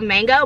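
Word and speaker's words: Mageaux: to mango mango and it's not spelled it's spelled like mango but then m-a-g-e-a-u-x i feel like yeah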